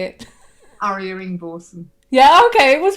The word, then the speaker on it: Arya Ingvorsen: And today we're talking to Arya Ingvorsen. Is that right, Arya? Have I said it right? Yeah, that's fine. That's perfect. How do you say it? Arya Ingvorsen.